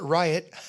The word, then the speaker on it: Ryot: speaker was able to not change the name just change the pronunciation and call it riot he said that it